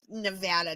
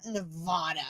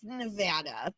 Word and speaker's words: Nevada: We're here too, and it is pronounced Nevada, not Nevada. It's Nevada.